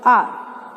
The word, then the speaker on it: our: What is the correct pronunciation of this word? It is called R.